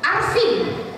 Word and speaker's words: Arvin: Arvin. Pakai V apa pakai F? Kalau V bahasa Inggris bacanya Vin. Alvin.